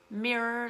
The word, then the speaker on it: mirror: The stress always goes on the first syllable.